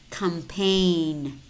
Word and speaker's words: campaign: exotic exaggerated exaggerated and we also have letter words which contain the letter G but it is silent no rain diaphragm sign Nash matte design design campaign foreigner tongue resign when do we pronounce this and separately in separate syllables such as signal signature and resignation okay I will see